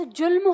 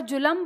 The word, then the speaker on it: जुल्म: है जुल्म ठीक है तो जुलम नहीं होगा अगर जुल्म बोलेंगे तो ल का उच्चारण पूरा होगा तो जुल्म कहेंगे ठीक है हां अब